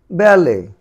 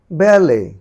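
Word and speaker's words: ballet: এরকম যদি দেখো ইর পরে টি থাকে, সেটির উচ্চারণ কিন্তু হয় না। তাহলে এটির উচ্চারণ কীভাবে হয়? ব্যালে, ব্যালে, ব্যালে, ভ্যালে, ভ্যালে, ভ্যালে।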